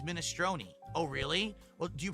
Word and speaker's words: minestrone: I say minestrone soup, and they're like, no, it's minestrone.